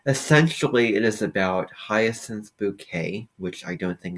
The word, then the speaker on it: Bucket: to pronounce her name it's not bucket it's bouquet that's how she likes to say it and I'm sure that